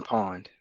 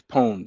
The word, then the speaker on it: pwned: Have I been pawned? Have I been pawned? Okay. Yeah. It P and it's not pawn like PAW. It's P. It's pwned.